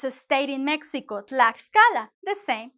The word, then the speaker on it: Tlaxcala: Tlaxcala, the same. We're going to separate it, right? Because it's like tlax. We cannot hug the next consonant. So you have to have the sound x Tlaxcala.